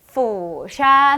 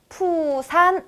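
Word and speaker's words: 釜山: 없이 말씀하시는 분들이 많거든요 푸산 아니고요 B 부산도 아니고요 영어 F 럼 후샤 하셔야 되겠습니다 뭐라고요 후샤 그리고 서울은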